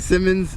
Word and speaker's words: Symonds: Diamonds happens to rhyme with my last name, and when I was in Vegas, they didn't know, they didn't really know how to pronounce my name. They kept saying Symonds, and my grandfather would have been pretty upset.